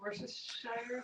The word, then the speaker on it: Worcestershire: of things, but Worcestershire, typically you don't pronounce the "shire" at the end of it. So it's like Worcestershire sauce.